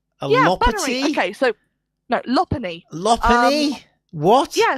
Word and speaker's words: Lopunny: I was breeding with a Lopunny, trying to get the perfect Bunnery and Shiny, and you shouldn't pronounce it like that.